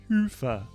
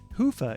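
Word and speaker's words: Hyvä: business to Commerce is sponsored by hia or as the Europeans say h Hua or the right way to say it hoofa is rapidly becoming the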